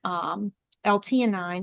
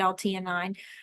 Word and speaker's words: L-theanine: family to start taking L-theanine or L-theanine. I'm not sure how you pronounce I it. think it's T9. Yeah. It has an H in it, but we've always said L-theanine.